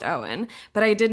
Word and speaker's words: Eoin: No, actually, but I knew, not personally, I knew of an actor whose first name was spelled the same way, Eoin, and that was pronounced Owen.